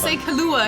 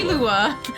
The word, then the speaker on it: Killua: Killua? Yeah, I was gonna say Kahlua again. That's a drink. The Kahlua. Killua.